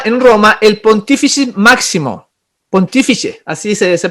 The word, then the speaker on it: Pontífice: Al emperador se le llamaba en Roma el Pontífice Máximo, Pontífice, así se pronuncia, y que se arrojó el Papa ese